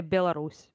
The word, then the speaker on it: Belarus: Belarouch with the ash at the end. We say Belarus. Yeah, we say basically not sure at the end. But you say like bush.